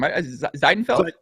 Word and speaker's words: Zeidenfeld: Al how do you say your last name zeidenfeld that's perfect pronunciation right there all right zeidenfeld so you